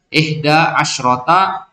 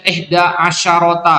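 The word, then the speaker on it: إحدى عشرة: Contohnya lihat, ihda asyrota imro'atan. Nah, itu madudnya mana? Imro'atan, muannas kan? Maka shinnya berharokat sukun. Wadah nah? Nggak boleh dibaca ihda asyarota, nggak boleh. Ihda asyrota. Ya, ihda asyrota.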